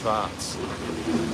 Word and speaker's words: schwarz: know what schwartz is schwartz is in german black and pronounced schwarz the guy deserves a